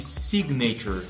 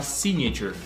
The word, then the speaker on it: signature: Par exemple, nous disons, on dit signature, on ne dit pas signature, non.